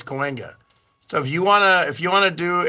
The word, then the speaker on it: Cahuenga: Yeah, it's Cahuenga.